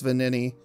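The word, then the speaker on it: Venigni: You don't pronounce the G. I think it's Vanini.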